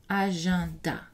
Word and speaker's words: agenda: Et EN dans certains mots comme examen, agenda.